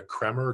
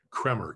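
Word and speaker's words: Kremer: anymore in america uh if you go to cremer k-r-e-m-e-r in new york or cornelison in london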